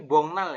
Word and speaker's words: 복날: gongna lenen ini ya ini dibacanya bok bukan boknal tapi bongnal ya jadi geknya jadi Eng karena ketemu dengan n yang di atas jadi bongnalenen pada hari bongnal